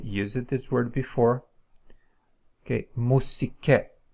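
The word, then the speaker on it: μουσική: Okay, musike, musike. So this is pronounced as u, musike, u, musike. Okay, so this finishes the content of the first lecture.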